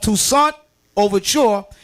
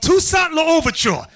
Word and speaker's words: Toussaint L'Ouverture: From the region came the ancestors of Toussaint Overture and Wait, stop! You're reading it like horrible, bro. Often pronounced and written Pawpaw, country. From this region came the ancestors of Toussaint L'Ouverture. He came from this area that we're reading about.